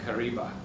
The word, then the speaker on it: Kariba: to be trapped and they used the word r Kiva and that because of the difficult pronunciations the different pronunciations of the dialects uh became Kariba bch you didn't know